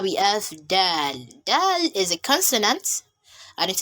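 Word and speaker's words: دال: means the song so when you are pronouncing your letter dal the tip of your tongue would meet the upper front suit note here that it's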